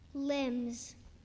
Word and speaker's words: limbs: Limbs.